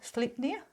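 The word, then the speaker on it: Sleipnir: stuff and north stuff I apologize if I say it wrong and pronounce it wrong but sleep sleep near its that's how you would pronounce that not good with the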